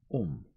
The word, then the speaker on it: homme: bark, he learned from D'Arnot that it was pronounced homme, and in the same way he was taught to pronounce ape, thing, and tree, arbre.